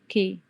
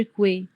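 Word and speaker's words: que: بتسلم لي التاسك وبتقول بتنطق كي غلط هي كي بتتنطق كي ما بنقولش كواي مش كوي لا كي تمام كي دي اس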